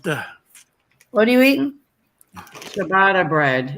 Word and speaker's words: ciabatta: Ciabatta bread. It's ciabatta. Pronounced ciabatta. Well, I know, but I didn't see the H. Chewbacca bread? There's no H in ciabatta bread. It's chi.